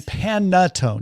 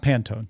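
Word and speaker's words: panettone: I just maybe spoiled Pan and Panatone. Not Pantone. Totally two different.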